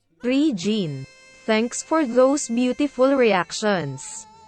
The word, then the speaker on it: Regine: phenomenal by the way her name is pronounced as tree gene thanks for those beautiful